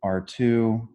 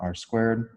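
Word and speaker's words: ℝ²: r2 okay so again r2 this is pronounced r2 not r squared okay this is two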